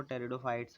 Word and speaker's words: Pteridophytes: Plant होता है वो टेरिडोफाइट्स होते हैं। इसमें जो पी होता है वो साइलेंट होता है।